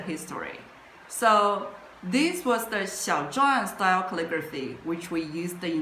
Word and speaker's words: 向: It pronounced as xiàng, which means appearance.